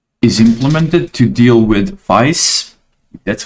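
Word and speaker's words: Faiss: This is where a lot of this core functionality is implemented to deal with VICE. That's how you pronounce that, vector codebase, vector database.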